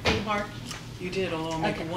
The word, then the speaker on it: Behar: Behar?